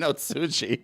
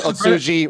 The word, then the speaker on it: Ohtsji: Ohtsji. It's all good. It's like, "Wait, wait. Olejarz. Ohtsji.